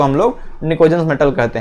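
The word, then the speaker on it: pnictogens: यह क्या होता है पी जो इसमें साइलेंट होता है एक ग्रुप 15 वाले तत्वों को हम लोग nikojans मेटल कहते हैं ये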